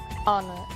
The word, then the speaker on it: honor: O som do H. Pronunciado desde a garganta, como em hotel, e mudo em 3 casos: our, honest, honor.